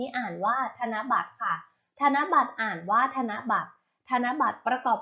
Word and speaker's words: ธนบัตร: แรก คำ คำ นี้ อ่าน ว่า ธนบัตร ค่ะ ธนบัตร อ่าน ว่า ธนบัตร ธนบัตร ประกอบ ไป ด้วย ทอ